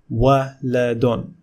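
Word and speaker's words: وَلَدٌ: Can you pronounce this word? Give it a try. Waladun, waladun, waladun, waladun.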